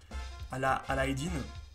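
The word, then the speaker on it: علاء الدين: le croyant chose d'ailleurs aladin en arabe ex prononcé à la halle aydin veut dire oui ça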